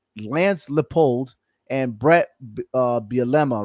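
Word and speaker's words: Bielema: saying this right Lance Leopold and Brett uh bilemma right is that how you say it yeah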